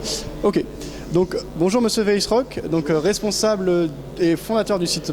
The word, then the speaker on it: Weisrock: Vesrock, que je prononce bien. Non, Weissrock.